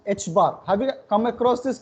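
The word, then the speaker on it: ħ: It is pronounced as h bar. Some pronounce it as h cross or h cut.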